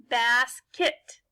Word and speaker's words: basket: Now let's put these two syllables together. Basket.